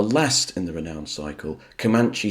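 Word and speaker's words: Comanche: in the renowned cycle kamanche station or some of Americans pronounce it comman now this has a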